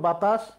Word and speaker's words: বাতাস: আশরাফুল, বাতাস, বাতাস লিখছে কিন্তু তালব্যস্যা লিখছো। বাতাসের উচ্চারণে তালব্যস্যা, কিন্তু বাতাস বানান লিখতে হলে দন্তস্যা লিখতে হয়।